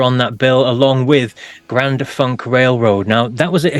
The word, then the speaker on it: Grand Funk: rubbing off on him he would say Grand Frank Railway or something I mean he never said it right uh but we made